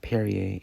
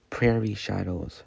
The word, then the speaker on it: Prairie Shadows: It's not Perier, it's Prairie Shadows.